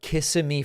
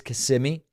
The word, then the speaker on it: Kissimmee: Last week, I talked about Kissimmee, Florida, and someone told me it's Kissimmee or Kissimmee.